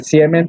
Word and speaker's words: siemens: Se escribe Siemens, pero se pronuncia Siemens, ¿sí?